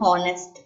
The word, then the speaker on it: honest: Your next one is an honest man. An is placed before the word honest man. Why? H is not a vowel. Can you guess? But H is silent here and it gives a O sound.